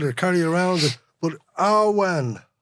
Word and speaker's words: Awen: But Awen. Ahwan, yeah, so it's pronounced Ahwan.